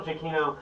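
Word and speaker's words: Giacchino: i mean certainly uh michael jacquino jaquino i think that's the correct pronunciation but michael jacquino the incredibles this is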